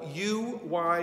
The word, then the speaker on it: Uyghurs: Their name is spelled U-Y-G-H-U-R-S and pronounced Uyghurs.